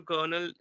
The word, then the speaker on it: colonel: instance Colonel is there when it comes to Kernel it is spelled like c o l o n e l r is not there in that word but we do pronounce it yes of course yes